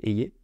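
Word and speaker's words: Hayer: donc c'est Valérie Eyer je sais pas si je prononce bien mais parce que j'ai entendu quelquesuns dire Eyer mais apparemment c'est c'est Eyer Valérie ayer a été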